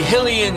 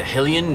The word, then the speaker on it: Hylian: We think it's Hylian, but we've seen a lot of people say Hylian and Helium, like.